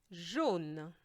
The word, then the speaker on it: jaune: Jaune. AU gives the sound O in French, so jaune.